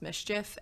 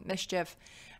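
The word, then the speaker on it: MSCHF: So Nike has sued, I think it's pronounced Mischief, M-S-C-H-F, the Brooklyn-based brand because they used a Nike shoe and then sold it without Nike authorization.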